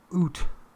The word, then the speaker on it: Ute: means deserted Valley and the you not Ute oot and the language ute